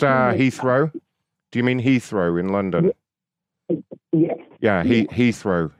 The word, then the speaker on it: Heathrow: Israel then Ichi was in Milan uh it's pronounced uh Heathrow do you mean Heathrow in London yes yeah Heathrow Heathrow yeah yeah